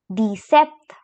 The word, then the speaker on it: dix-sept: Then we have 17, which is pronounced as dix-sept.